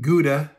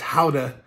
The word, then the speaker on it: Gouda: houda many years ago when i pronounced it gouda with my american pronunciation but i quickly learned that it was howda and i just wanted